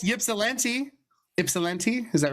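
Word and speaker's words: Ypsilanti: YOUR LIP YOU I can pronounce yipsi. Ipsilente. Is that right? Ipsalante.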